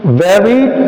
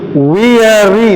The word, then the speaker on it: weary: The first one is very tired. The first letter is the word. Weak? No. It is, what's the pronunciation? Weary, not very.